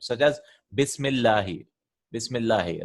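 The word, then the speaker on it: بسم الله: So if anything comes before that, we won't pronounce it. Such as Bismillahi.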